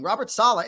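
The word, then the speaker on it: Robert Saleh: be a little challenging Robert Sala isn't he emphasize the first syllable so you've beaten that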